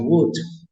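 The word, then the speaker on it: would: tenemos contraído el condicional Wood que lo tengo escrito en azul para resaltarlo la l se escribe pero no se pronuncia no pueden decir que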